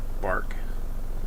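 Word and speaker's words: barque: But, uh, I thought it was really interesting that this is called a bark schooner.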